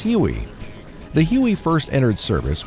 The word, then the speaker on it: Huey: quickly developed a nickname derived from its designation of 81 which came to be pronounced as Huey the Huey first entered